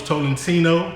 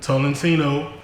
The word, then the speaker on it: Tolentino: It's Chief Takes Films, Borntopoketv, and today we got Tolentino. That's how you say it, right? Tolentino.